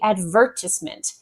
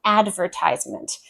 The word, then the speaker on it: advertisement: But there is a difference in pronunciation stress with this one. So, in the United Kingdom, they say advertisement.